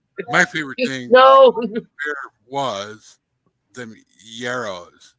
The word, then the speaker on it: gyros: My favorite thing was them yarrows. You know, the gyros, people call them. They're yarrows. Gyros. Man taught me how to say it.